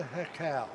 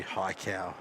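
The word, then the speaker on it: Haikou: I call it Hakau, Hakau. It'd be high cow. Yeah, it could be. Oh, that's similar pronunciation to Japanese. H-A-I is hai, Yep. because that's yes in Japanese.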